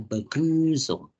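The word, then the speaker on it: Begrüßung: pertama iya Yang pertama pasti kita beguzung ya bacanya beguzung atau salam oke beguzung atau salam so teman-teman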